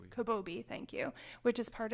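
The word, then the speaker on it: Kobabe: see I'm going to not be able to pronounce the name right Maya kababi kabobi thank you which is part of the ghs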